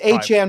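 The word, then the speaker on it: Achane: these players and how to pronounce their names, which I also mess up. It's A-Chan, by the way.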